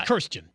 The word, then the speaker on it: Kirstjen: it's Kirstjen. Kirstjen, and it's spelled Kirstjen. Kirstjen. It's like Kirsten with a J, so it's Kirstjen.